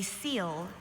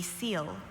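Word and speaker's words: coel: Aliana, your word is a seal. A seal is a marine flatworm that lacks a digestive cavity with definite walls and that receives food into a porous mass of endodermal tissue. A seal.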